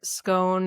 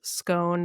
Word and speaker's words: scone: So it's either scone that rhymes with cone. So that's there's a scone that rhymes with cone and then all the way to orange which is scone that rhymes with gone.